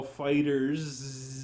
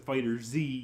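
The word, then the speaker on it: FighterZ: newer fighters such as strike drag the ball fighters said that's not how you pronounce that by the way it's fighters fighters are the Zed with a Z but you don't pronounce it fighters Z yes a fighters is it anyway that being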